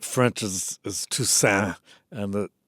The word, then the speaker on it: Toussaint: Tucant and the you know the correct French is is tusan and the the final T is silent but uh my mother being from the south is Tusant and the final T